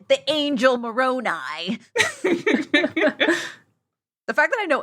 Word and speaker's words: Moroni: The angel Moroni.